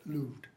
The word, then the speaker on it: moved: no man ever moved that's how we pronounce in Shakespeare's day moved notice the genius of